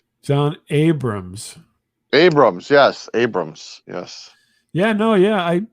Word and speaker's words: Jon Abrahams: And they had, I'm gonna get his name wrong now. Shit, it was Jon Abraham? Jon Abrahams.